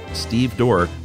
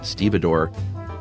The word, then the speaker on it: stevedore: Josh pontificated about how it's pronounced exactly like it's spelled Steve door but I got news for you guys it's most assuredly stevedore so Josh please apologize to Chuck sorry Chuck